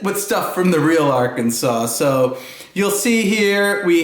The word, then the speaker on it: Arkansas: Seas to see the imaginary Isle of new Arkansas there's of course a real state of Arkansas but we made up this imaginary island called new Arkansas and we filled it with stuff from the real Arkansas so you'll see here we have a black